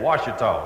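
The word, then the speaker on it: Ouachita: is really true so I had to spell wash by Texas phonics now you really spell it o u a c h i ta wash some of you mark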